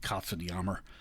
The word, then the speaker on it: Katzenjammer: Moritz, the Katzenjammer Kids, or I guess the German pronunciation would be Katzenjammer.